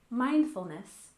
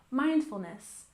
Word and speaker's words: mindfulness: first we have mindfulness we stress the first syllable mindfulness mindfulness and we use this when